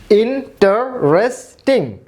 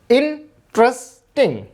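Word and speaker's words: interesting: এরপরে দেখুন ইন্টারেস্টিং, ইন্টারেস্টিং, চারটি সিলেবল হবে না, হবে কি ইন্টারেস্টিং, তিনটে সিলেবল।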